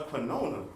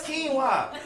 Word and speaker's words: quinoa: I'm sitting here like, what is a quinona? And she like, nah, that's quinoa. It's not spelled like that.